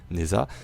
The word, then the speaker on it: Nezha: Nous allons parler aujourd'hui de Neza. C'est parti. Et bienvenue à vous dans cette Warframe Review consacrée à Neza. Oui, on va prononcer à la française durant toute cette vidéo.